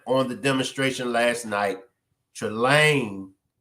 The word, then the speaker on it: Trelane: Salute, Trelane. Appreciate you for pulling up. And for everyone that wasn't on the demonstration last night, Trelane is not the male Trelane, but she pronounces her name Trelane.